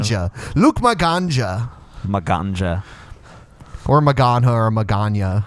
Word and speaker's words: Maganja: Well, a J can sometimes be pronounced like an H, or it can be Yeah. pronounced like a Y, depending on what language. I think it's actually Luke Maganja. My ganja. My ganja. It is like Ganja.